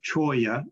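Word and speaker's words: cholla: plant material this particular hybrid choya and it's pronounced uh choya like with the y uh is a is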